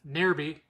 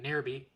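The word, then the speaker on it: Nairby: By the way, uh, friend of the channel, uh, Nerby, I'm assuming that's how it's pronounced. N A I R B Y. Nerby.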